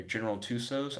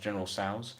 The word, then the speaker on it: General Tso's: I've tried their General Tusos. I've heard it's actually pronounced General Tso's.